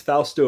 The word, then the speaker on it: Fausto: to call you is it falsteo how do you say your name it's okay it's fausto or whatever you prefer it's totally fine fausto faustus i like that